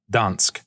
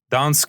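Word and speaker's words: Gdańsk: example a city like Dans Dans is spelled with a G today in Poland it's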